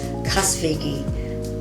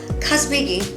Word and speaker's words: Kazbegi: I will never forget his Casa Vega before I pronounce it correctly no kazbegi it's a place where